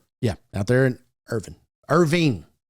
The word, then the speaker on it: Irving: Out there in Irving. Irving. Yes. Yeah. Michael Irvin played in Irvine, Texas. Al Michaels. He always butchered that on Monday Night Football.